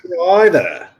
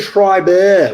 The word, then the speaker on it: Shriver: Shriver. That's what I said. You said Schreiber with a B. You put a B in there.